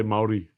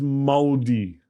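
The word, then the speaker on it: Māori: I love how you say Maori. So I just figured out like the R is pronounced D. So if you're Australian, Maori. Yeah, and worse if you're an American. It's almost moldy.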